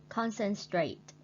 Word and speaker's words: concentrate: Concentrate. Concentrate means tập trung. We put the stretch on the first syllable.